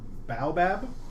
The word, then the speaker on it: baobab: interrupted occasionally by thorns or thorn in bat baobab trees exactly pronounced right how about hey they're kind of